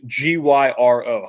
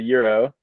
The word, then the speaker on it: gyro: um Garrett the food g-y-r-o how do you pronounce that g-y-r-o uh I mean it's a euro but in New York it's a gyro right yeah he has